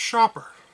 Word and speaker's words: Schaper: today we're going to be looking at some shaper games except they're not really shaper games it's actually pronounced shopper and it was enough of a problem for